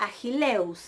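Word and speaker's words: Ἀχιλλεύς: Ahí ven cómo yo pronuncio eus, pero el acento está sobre la y.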